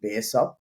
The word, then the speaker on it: Baresop: do sure so firstly a lot of people pronounce this incorrectly it's actually Bears up sorry mate majority of